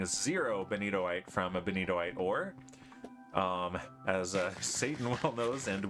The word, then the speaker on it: benitoite: for you girl Hulk I am possibly the only Vault hunter in the world who pronounces benitoight right let me show you something and I blame miscal for this because he says it wrong and now everyone says it wrong that does not say beniotite that is benitoite and